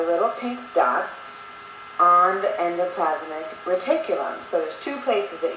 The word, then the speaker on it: endoplasmic reticulum: about pronunciation all right so Endo plasmic R Tulum okay want to try it with me endoplasmic reticulum and that is singular